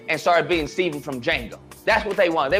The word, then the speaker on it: Django: They got Django, okay? The D is silent.